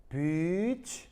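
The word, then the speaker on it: beach: 비치. 시작. 무슨 말 알겠어요? 알겠죠?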